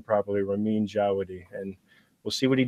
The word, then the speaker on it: Ramin Djawadi: could all agree to say his name properly, Ramin Djawadi.